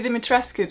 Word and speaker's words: Dimitrescu: to pronounce the name but I'm gonna stick with the Romanian pronunciation since it's all Romanian inspired so I'm gonna stick with what Romanians have to say though So it's Lady Dimitrescu to me She's a nine foot